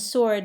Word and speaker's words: sword: And sword has a silent W.